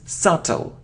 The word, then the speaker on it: subtle: okay it isn't soft oh no we don't pronounce it it's subtle subtle it isn't hair oh hi no it's